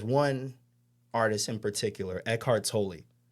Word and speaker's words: Tolle: Tolle? Tolle, yeah.